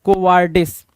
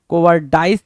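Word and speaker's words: cowardice: कोवार्डिस आपको पता है कावार्डिस होता है। कोवार्डिस नहीं होता है। कोवडाइस भी नहीं होता है। देखो डाइस लिखना लिखने की कोशिश कर रहा है। कोवार्डिस होता है क्या? कोवार्डिस। कोवडिस की spelling C ओ डब्ल्यू कावर्डिस पढ़ा करो तो ज्यादा अच्छे से याद रहेगा क्योंकि कावर्ड से कावर्डिस बना है भाई क्या कावर्ड से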